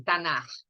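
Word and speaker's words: Tanakh: Então, esse nome Tanar, eles pronunciam assim, Tanar.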